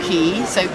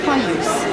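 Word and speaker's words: Caius: way of spelling dor key so k y KW it became c a i u s cuse but it's still pronounced keys because his name was keys and he's holding a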